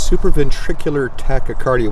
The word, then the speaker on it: supraventricular tachycardia: sometimes trigger uh now tell me if I'm pronouncing this wrong superv ventricular uh tachiarda well you're close it's super ventricular tachycardia we'll just call it